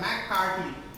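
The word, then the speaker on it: McCarty: ये एच नहीं होगा एक्चुअली, हिंदी से जब इंग्लिश प्रोनाउंसिएट, इंग्लिश में जब कन्वर्टन होता है तो कार्थी लिखा रहता है, तो THY हो जाता है, मैककार्टी, ठीक।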